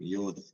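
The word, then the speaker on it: ܝܘܕ: അടുത്തത് മലയാളത്തിലെ യ എന്ന് പറയുന്ന ഉച്ചാരണം വരുന്നതാണ്. യ, യ. വൈ എന്ന് പറയുന്നതാണ് ഇംഗ്ലീഷില്. യോദ് എന്ന് പറയും. യോദ്, യോദ്.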